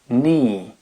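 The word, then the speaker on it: knee: no I don't know le genou ni et non pas kn un chevalier night ça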